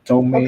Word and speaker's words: come: Jadi, tulisan comel itu bacanya come.